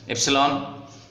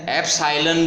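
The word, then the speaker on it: epsilon: इसका प्रोनाउंसिएशन क्या है देख करके अपने आप कर लेना। ठीक है ना। इप्सिलॉन। ठीक है ना। तो इप्सिलॉन बोलते हैं, एप्साइलन बोल देते हैं, आपकी जैसी इच्छा हो।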